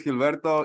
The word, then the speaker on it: Gilberto: do you prefer well my full name is Gilberto you pronounce it well just roll your R and we're cool with Gilberto okay gee it is